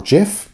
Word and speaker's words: GIF: images, turn a video into a GIF or GIF, depending what you pronounce it as.